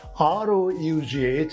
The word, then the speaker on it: rough: But these 12 words have different sounds, maybe 6 or 7 types of pronunciations. Number 1, we have C-O-U-G-H. It is cough, not cough. But the second one, R-O-U-G-H, it is rough, rough and tough.